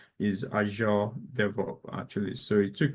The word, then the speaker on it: Azure: AO Dev something around that it's not is azure Dev actually so it took me a while also to get the pronunciation anyway but just watch out for those